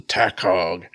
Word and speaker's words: Takog: one is bit different this is a tack hog which really or t-a-k-o-g no h in there even though I kind of pronounce it tack hog which I would kind